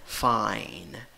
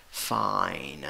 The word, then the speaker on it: fine: La escritura va con I, la E no va, no suena, pero la pronunciación va con la I con sombrero. I con sombrero, I. La palabra la pronuncias fine, fine.